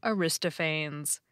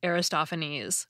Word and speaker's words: Aristophanes: I called him Aristophanes. But it's actually pronounced Aristophanes, which I recognize immediately now that I hear it said the right way.